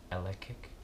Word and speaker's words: Elektric: And then the standard second attack is called Flying Elektric, like rhyming with electric, and you have to pay 3 energy for that ability.